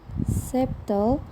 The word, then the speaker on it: subtle: Examples of silent letters in English are the letters B in subtle, C in scissors, G in design, T in listen, and C in talk.